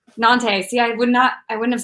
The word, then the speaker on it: Nantes: And it is connected to the hip port city of Nantes. How do you say it, Brett? You said it earlier. Nantes. Nantes.